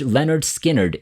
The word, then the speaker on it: Lynyrd Skynyrd: to spare number one pronounced Leonard Skynyrd 1973.